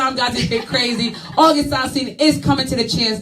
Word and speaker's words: August Alcina: I love August Alcina.